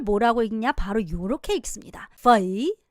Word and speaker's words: phẩy: 그럼 쉼표를 뭐라고 읽냐? 바로 요렇게 읽습니다. phẩy. 한 번 더 읽어볼까요? phẩy 라고 읽습니다.